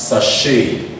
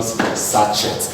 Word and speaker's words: sachet: This can give us, it's a French word, and as a result it's pronounced as sachet, not sachets, not sachets, sachet.